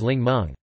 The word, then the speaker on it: 檸檬: For example, the Mandarin word Ningmen, simplified Chinese, Ningmen traditional Chinese, Ningmen meaning lemon, came from Cantonese, in which the characters are pronounced as Lingmeng.